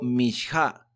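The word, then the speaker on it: מנחה: Y dice el comentario que la palabra ofrenda se pronuncia en hebreo mishá.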